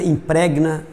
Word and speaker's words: impregna: A sílaba tônica é essa vogal com o G mudo aí, tá? Então, é indigna, impregna e repugna, certo?